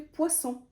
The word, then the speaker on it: poisson: S pardon de l'écriture si on écrit avec un seul S ça se lit poison si vous écrivez avec deux S ça fait poisson poisson le poison هو السم